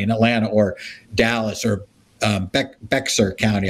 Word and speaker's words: Bexar: Atlanta or Dallas or Bexar County. I always mispronounce it. It's Bear County, baby. Bear County.